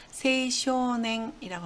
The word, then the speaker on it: 青少年: 주로 세이라고 읽으니까 여러분들은 세이를 외워두시면 되겠네요. 청춘을 세이슌이라고 합니다. 세이슌. 그리고 청소년을 세이쇼냉이라고 합니다.